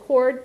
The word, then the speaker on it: chord: I know it's spelled like not the word chord. It's CH, it's not chord. It is called chord, but it is spelled like this.